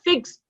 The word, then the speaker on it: fixed: Okay, and with the regular verb ends with the unvoiced sound, the ed is pronounced as T. जैसे हम बोलते हैं ना fixed, अब वो pronunciation में क्या सुनाई देता है, T सुनाई देता है, but वो it is ed.